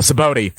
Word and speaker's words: Sabaody: And Frankie says, when they come back to Sabaody, I keep pronouncing it wrong. Sabaody.